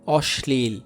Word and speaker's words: অশ্লীল: এরপর 2 নাম্বার নিয়মটা দেখেন, শব্দ শেষে বা মাঝখানে যদি লফলা থাকে তবে লফলার উচ্চারণ দুইবার উচ্চারণ হয় এবং লয়ের উচ্চারণ অবিকৃত থাকে। যেমন দেখেন মহা ক্লান্ত, কটা কয়বার উচ্চারণ হয়েছে? দুইবার। অশ্লীল, এরপর দেখো, হ্যাঁ, এখানে